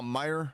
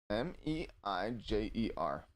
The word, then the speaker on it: Meijer: It's not Myers. It's not spelled like that. Promise you. But yeah, I know what you're saying. It's M-E-I-J-E-R. It doesn't look right, but yeah, that's literally how it's spelled.